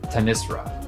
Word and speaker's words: Tamisra: supposed to be pronounced Tamisra. It's a Hindu name, I believe, meaning darkness, but I pronounce it Tamisra. I know it's technically wrong, but I also know